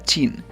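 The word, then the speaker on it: Qin: Como hemos dicho antes, la Q se pronuncia como ch, por lo tanto chin, de ahí el nombre china.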